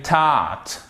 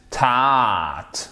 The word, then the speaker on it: taught: En fait, c'est comme entre le A et le O. C'est un son long qui se rapproche plus du A. Brought, taught, OK?